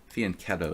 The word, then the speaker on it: fianchetto: I'm playing the Lopez with black fianchetto tonight fianchetto if you like correct pronunciations why did you give up ICC well